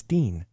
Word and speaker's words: Casper Van Dien: casper van what Ian its Dean is it yeah because di e it is okay and I've